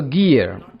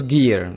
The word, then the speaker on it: gear: So gear. So he forgot to put the reverse gear. So see here, focus on the pronunciation. This is not gear, this is gear.